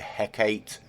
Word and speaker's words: Hecate: this one right here the heck eight the hecate if you want to say it like that i really don't mind i prefer hecate myself yeah so let me